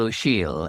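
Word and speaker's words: O'Siadhail: who is a poet, Micheál O'Shiel, an Irish poet, now living in New York, actually. And he's spelt, by the way, O''Siadhail, which nobody could guess from the pronunciation.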